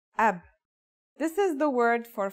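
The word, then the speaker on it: أب: It's pronounced ab.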